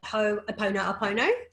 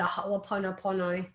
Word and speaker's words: Ho'oponopono: So if you look it up and just Google, even if you can't spell it, Ho'oponopono is kind of how you say it in Australian, Opono.